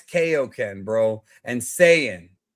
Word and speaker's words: Kaioken: That's why it's Kaioken, bro. And Saiyan. It's Saiyan and Kaioken. AI is I, not A.